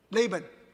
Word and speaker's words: Laban: And he described to Laban, how do you pronounce his name? Laban. Lay, not R. L. Okay, Laban.